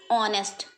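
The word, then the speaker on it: honest: कहाँ पे प्रॉब्लम है, एच साइलेंट हो जा रहा है, आवर, एयर, ऑनेस्ट, ठीक, जैसे HEIR, एयर माने उत्तराधिकारी, ठीक, ऑनेस्ट, ठीक, एच साइलेंट है।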